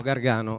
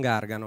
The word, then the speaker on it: Gargano: un un problema sull'accento io mi chiamo Gargano e non Gargano ma l'anno prossimo andrà